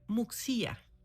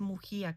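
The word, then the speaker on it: Muxía: lugar que se llamaba eh Muxia, que ya después me enteré que es Mujía, como el apellido. Bueno, ahí está. No más que en Galego, que es el el idioma de los gallegos, así se escribe, así se se dice.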